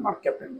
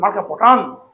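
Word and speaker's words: mercaptan: Sulphur ঘটিত একটা গ্যাসের একটা উপাদান মার্ক ক্যাপ্টেন, সালফার থাকে মধ্যে। ঠিক আছে? তো এই কারণের জন্য গন্ধ বের হয় একটা। তো এটাকে কিছু স্টুডেন্ট উচ্চারণ করে মার্কা পটান।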